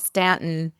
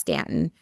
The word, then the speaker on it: Staunton: It's called Stanton. It's spelled Staunton, but it's pronounced Stanton.